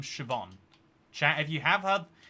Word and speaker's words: Siobhan: it's uh have you ever heard the name shoban CH if you have heard the name I just said Siobhan uh if you've never if somehow this is